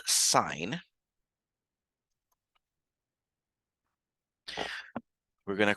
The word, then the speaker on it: sine: going to call this sign of something so sine of theta in this case we still pronounce it even those s i n we